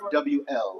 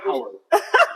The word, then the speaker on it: owl: We don't pronounce O-W-L. We don't pronounce things. She said Howell. Anyway, because Jamaicans always put an H in front of everything.